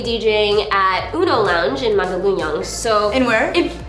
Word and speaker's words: Mandaluyong: 20th, I'm going to be DJing at Uno Lounge in Mandaluyong. So In where? Say it again. Mandaluyong.